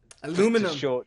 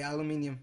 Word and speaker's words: aluminium: see, I did a mistake of I put cause Aluminum. to shorten. Well, I Aluminium. mean, you guys spell aluminium wrong and say it wrong To be anyway. fair, Spanish people say aluminium.